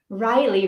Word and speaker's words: Riley: cool aunt ah Riley rhymes with Kylie oh okay Ryle rhymes